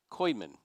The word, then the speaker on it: Kuijman: It's not Kujiman, it's Kuijman? Koyman. Okay, I mispronounced it twice. Koyman, now I have it right.